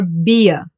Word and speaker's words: Bier: I E will be pronounced like a long, slow E. Like, for example, in cheese.